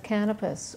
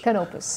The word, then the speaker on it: Canopus: the cap of the USS canopis or is is that the correct pronunciation can canopus okay it's named after a star mhm uh after I